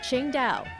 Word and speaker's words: Qingdao: it's pronounced the same way the city is pronounced Ching da the original Ching da Brewery has been completely